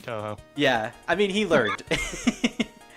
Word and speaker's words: Touhou: I'm sorry I'm American I'm supposed to pronounce it as tauhau Creepypasta back in the day he pronounced it as Tao how and yet and yet when he did the thing for the ransomware he said Toho yeah I mean he